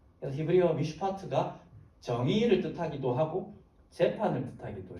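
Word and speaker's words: מִשְׁפָּט: 발음하면요 짜증나게 해서 죄송합니다 미슈파티입니다 오른쪽에서 왼쪽 읽어요 미슈파트라는 발음의 정의라는 단어입니다 이게 이제 앞에 말했던 여기에서의 사용된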